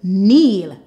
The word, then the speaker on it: kneel: Eel, kneel. Again, the K is silent.